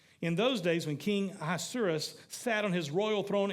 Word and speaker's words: Ahasuerus: King Ahasuerus sat on his royal throne in Susa, the